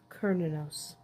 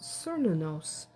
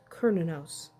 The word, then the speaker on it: Cernunnos: Celtic horned God throughout most of Europe is kinos in some regions it may be pronounced cernos depending on where exactly in Europe you are but if you are in the Celtic areas it is typically pronounced kinos kinos is the primary God of the Irish